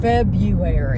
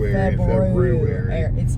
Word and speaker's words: February: February. Instead of February. I'm guilty of saying February all the time. I say it all the time and drop the R like regularly.